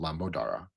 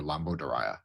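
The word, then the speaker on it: Lambodara: It's called Lamodara or Lamodoria if you use more of the contemporary Sanskrit pronunciation. Not this is not traditional Sanskrit but Lamodara if it's more traditional that means pregnant potbellied actually.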